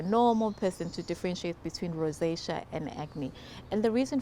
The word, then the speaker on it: rosacea: It's rosacea. Did I say it right? Rosacea.